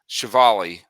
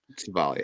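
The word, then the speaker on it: Civale: You would assume, and just traded Chevali to, that's how you pronounce his name, right? Chevali, Aaron yeah, Chevali, so you just traded Chevali to the Tampa Bay Rays.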